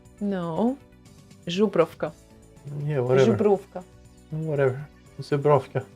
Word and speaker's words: Żubrówka: You just need to remember it's not z, but I'm ż.